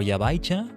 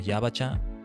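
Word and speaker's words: ヤバチャ: Or Yabaicha? No, Yabacha.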